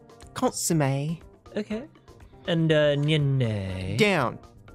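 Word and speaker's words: consommé: consume a yeah consumed in the UK it's pronounced consomme consomme okay and onion and down no he's trying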